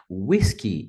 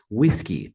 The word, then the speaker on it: whisky: pela palavra código whisky whisky e também a primeira sílaba é a mais forte a pronúncia deve ser whisky taxi vai a Victor